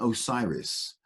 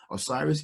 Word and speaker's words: Osiris: of their own gods, the Apis bull and Osiris. Osiris, the god of resurrection, the savior god, effectively. No, Horus is the savior god. The god of resurrection, Osiris, and he was known as Osar. Osiris is the Greek word for him.